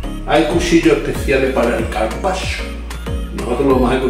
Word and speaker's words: carpaccio: Por el principio yo pronunciaba carpaccio, o carpaccio, de los montes Cárpatos, pero es carpaccio.